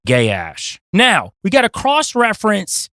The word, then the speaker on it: Gaash: that you use, but it is spelled Gaash, so I will be saying Gaash.